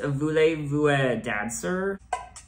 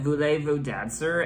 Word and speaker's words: Voulez-vous danser: I do think it's pronounced Voulez-vous dancer?